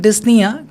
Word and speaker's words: dyspnea: The patient is experiencing dyspnea, so it's important to ensure they receive adequate oxygenation. Practice saying dyspnea to ensure you pronounce it correctly during the role play. So ഈ role പ്ലേയിൽ നമ്മൾ വായിക്കുമ്പോഴാണ് ഡിസ്നിയ എന്നുള്ളൊരു term മനസ്സിലായത്.